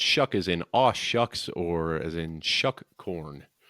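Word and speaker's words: Shough: Chuck, the Chuck, by the way, is uh, it's pronounced Chuck as in a shucks or as in Chuck Corn. So, Tyler Shuck. Sorry about that. I'm pretty certain I've called him Tyler so before show before.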